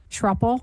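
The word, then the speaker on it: Schroepel: Miss Trupel, would you please state your name, spelling your last name, and your business address for the record? Yes, it's with an I. Truffle and I'll spell that S C H R O E P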